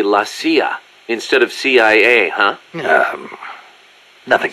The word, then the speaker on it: la CIA: Around here they say La CIA instead of CIA, huh? Nothing strange about it. That's how it's pronounced when you read it in Spanish.